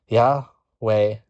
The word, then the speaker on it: Yahweh: in the burning bush a name when pronounced is meant to sound like breathing yah way because God gives us life it's extremely prophetic and